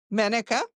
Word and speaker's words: Menaka: I wanted to make sure I'm pronouncing your name correctly. Is it Menaka? Am I saying Menaka, that right? Menaka, and is an ex-married name, but that's what it is.